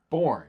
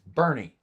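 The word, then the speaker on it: Burnet: They So name it's a city and they can't Bernie, say- not Born. It's Bernie.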